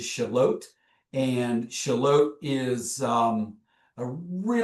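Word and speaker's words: Shallotte: So Shalot um most people will try to pronounce it like shallot um but it is Shalot and Shalot is um a really really cool town.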